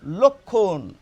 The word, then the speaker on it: লক্ষণ: আর এটির উচ্চারণ হচ্ছে লক্ষণ। আর রামের ভাইয়ের উচ্চারণ হচ্ছে লক্ষণ। এই শব্দটির উচ্চারণ যদি আমি লিখে প্রকাশ করি তাহলে হয়ে যাবে ল ওকার ক খওকার ন লক্ষণ আর রামের ভাইয়ের উচ্চারণ